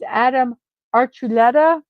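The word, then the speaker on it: Adam Archuleta: of the Royal Society so someone I didn't pronounce their name correctly so it's Adam archuletta so there we go jet Jurgens smire an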